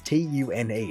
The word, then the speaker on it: tune: take tune for instance t-u-n-e it's pronounced tune which what if you spelled that phonetically would be c-h-u-n-e something like that which